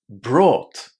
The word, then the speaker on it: brought: You basically need to pronounce the o u g ht inside this verb as ought. Just two sounds, a long o and a t.